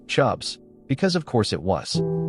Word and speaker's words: CHBS: People were starting to suffer from what psychologists reluctantly dubbed chronic hysterical burnout syndrome or CHBS, pronounced chubs, because of course it was.